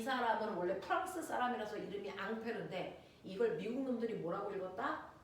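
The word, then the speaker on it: Ampère: 그래서 앙페르 법칙이라고 해도 같은 말이에요.이 앙페르라는 사람은 우리가 앞서 배웠습니다.이 사람은 원래 프랑스 사람이라서 이름이 앙페르인데 이걸 미국 놈들이 뭐라고 읽었다? 암페어라고 읽었다.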